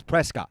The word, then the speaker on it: Prescott: me to say Presley dude it's Prescott it is spelled clearly spelled Prescott I say Prescott Norfolk Virginia they say